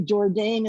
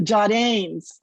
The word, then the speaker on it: Jourdain: from new bedford well in our family jourdain is pronounced the jodines and they were